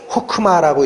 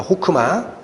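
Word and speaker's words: חכמה: 성부 하나님이 천지를 만드실 때 성자 하나님, 지혜, 이 히브리어로 호크마라고 읽히는 겁니다. 호크마.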